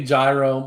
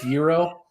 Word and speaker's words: gyro: you like 20 times I used to say gyro my wife has a doctorine so Dr Clen says it's zero and that's what I